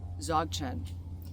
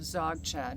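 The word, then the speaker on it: Dzogchen: you know what comes to mind is um zogin if you're not familiar with the practice of zogan well it's spelled DZ o g c h en zogan is the practice of openness and presence right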